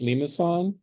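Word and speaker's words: limaçon: but this is wrong there's a little thing under that c which makes it pronounced like an S so in English we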